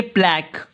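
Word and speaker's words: plaque: आप इसको किस तरह पढ़ेंगे, प्लैक, इसकी प्रोनाउंसिएशन प्लैक में आती है, आप इसे प्लैक कहेंगे।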